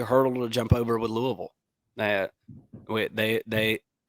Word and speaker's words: Louisville: to jump over with Louisville that wait they they I keep mispronouncing it uh comment section told us it's Louisville not the live chat